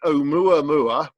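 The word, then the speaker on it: Oumuamua: very unpronounceable looking name it's actually Omo ermua which sounds like I'm making farm animal noises but it's actually a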